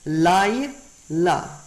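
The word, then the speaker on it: לַיְלָה: Now, that yod there in pronunciation has no vowel. Layla. Layla. There's no vowel with that yod.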